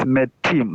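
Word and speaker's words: מתים: So it is metim. Metim. So Right. it means me is an open syllable. Then tim is another syllable which is closed.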